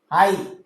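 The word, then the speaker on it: high: एन D, found, आइट, आई जी एच, जी H sound silent रहता है इसमें, तो एच आई जी एच, हाई, एच आई जी एच टी, हाइट, राइट, आर आई जी एच टी, राइट।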